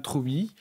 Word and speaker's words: Trewby: Pour vous accompagner jusqu'à minuit, Troui. Je prononce bien votre nom de famille ou pas ? Tout à fait.